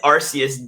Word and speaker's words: Arceus: you say rcc arceus arceus or arceus it's arceus dude yeah what we're saying about what what